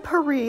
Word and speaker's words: Paris: occurred to me that while the Americans pronounce it with the added s sound the rest of the world has collectively decided to pronounce it silently with certain exceptions of